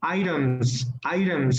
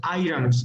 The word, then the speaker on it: items: So here, let me help you with items, artículos, items, not items, items, okay?